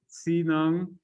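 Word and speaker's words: txiv neeb: shamans a moment ago the way you pronounce this word is si nung you can see it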